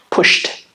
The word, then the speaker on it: pushed: What's the sound at the end? Sh, sh. Ah, unvoiced sound? Pushed, push, pushed.